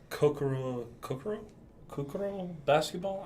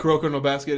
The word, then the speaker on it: Kuroko no Basket: I mean, there was the Kokoro basketball? I cannot pronounce that. Kuroko no Basket.